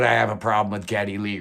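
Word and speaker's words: Geddy Lee: five it's gary lee well actually it's getty lee but uh his birth name was gary uh his yiddish mom uh had difficulty pronouncing gary so it always came about getty so it caught on both of geddy's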